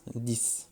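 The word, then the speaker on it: dix: Et là, pareil, le X s'entendra comme un S, 10, comme par exemple 10 coqs.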